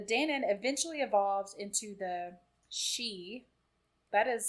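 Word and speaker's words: sidhe: sounds amazing the danon eventually evolves into the she that is spelled s-i-d-h-e i wouldn't say it like no i looked it up cause i was like how's that pronounced it's pronounced she huh the fairy folk who is they are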